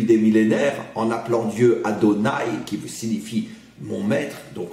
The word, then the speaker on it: Adonaï: on le prononce différemment parce que on le prononce Adonaï qui veut dire en vérité mon maître d'où